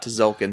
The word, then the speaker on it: Tzolk'in: I'm talking about Tzolk'in. Oh, yeah. The T is silent. The Mayan calendar.